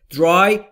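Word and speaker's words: dry: حال استمراری استفاده شده درای تلفظش به این صورته عرض نکردم درای درای بین دی و آر صدایی وجود نداره ما هم مجاز نیستیم صدایی رو اضافه بکنیم پس شد خشک کردن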